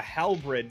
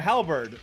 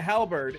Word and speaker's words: halberd: at you pulling a halbridge seemingly out of its arm I said it right a halberd sorry pulling a halberd it doesn't sound right